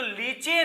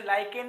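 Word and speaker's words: lichen: Thallophyta समूह का जो लिचेन है इसे ही आप लिचेन भी कहते हैं बोलने में कुछ जिसे लाइकेन भी बोलते हैं इंग्लिश स्पेलिंग इसकी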